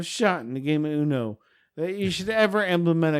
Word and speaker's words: Uno: Say the game of what? Uno. You kept saying you know. Yeah, you know.